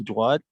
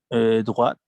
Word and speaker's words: droite: drogue exactement très bien voici là te ne se prononce pas parce que ce masculin des jo taux de retour de droit les masculins et pour indiquer la direction on prononce la tête parce que c'est féminin tourner à droite tourner